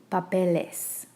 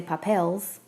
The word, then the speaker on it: papeles: So like papel, papeles. We don't say papels.